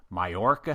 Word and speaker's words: Mallorca: amazing conference that they call exocad insights in mayorca Spain oh you even pronounced that correctly well done I've been practicing